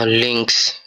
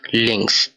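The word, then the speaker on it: links: পরবর্তী ওয়ার্ডটা এল দিয়ে, এখানে লেখা লিঙ্কস অর্থাৎ বাম বা লেফট। তো এটার উচ্চারণ হবে এল ই এন কা এস, লিঙ্কস অর্থাৎ লেফট বা বাম।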